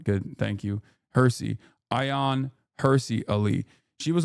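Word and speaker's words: Hirsi: It's pronounced Hersy, not Hershey. Oh, okay. I don't really care. But all right, good. Thank you. Hersy.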